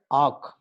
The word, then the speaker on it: AWK: So the acronym AWK we are going to pronounce as AWK. Okay, AWK.